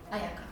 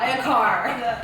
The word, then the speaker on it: Ayaka: So for like example, your name in Japanese would be Ayaka. To like Spanish-speaking country, Ayaka, same. Oh, really? Yeah. I don't like ayaka. Yeah, same pronunciation. But if you go to like English-speaking country, Ayaka, Ayaka, yeah, Ayakar.